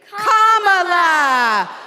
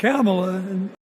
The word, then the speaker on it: Kamala: First, you say comma like a comma in a sentence. Then you say la like la la la la la. Put it together, and it's 1, 2, 3, Kamala.